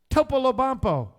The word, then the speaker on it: Topolobampo: When you don't know how to pronounce these 5-syllable words, always start with the last 2 syllables. So repeat after me. Bampo. Lobampo. Polobampo. Topolobampo.